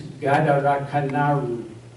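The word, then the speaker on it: ガダルカナル: Guadalcanal, pronounced by a Japanese, is Gadarakanaru. The Japanese could have written, they ignored the W sound that comes in our spelling with U.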